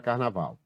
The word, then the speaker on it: carnaval: como é que você parou nos a palavra carnaval ficar na Val é uma palavra carnaval Qual é a sílaba tônica Qual é a sílaba que pronuncia